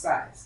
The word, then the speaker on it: Saiz: Our last name is Size. As you can see, it is spelled S-A-I-Z. That's in our last name is pronounced Size. Size.